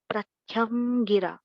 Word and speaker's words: प्रत्यंगिरा: तो उनका प्रत्यंगिरा, ये नाम है प्रत्यंगिरा। वो लिखते अलग है, लिखने में अलग है पर प्रोनाउंसिएशन यही है, प्रत्यंगिरा।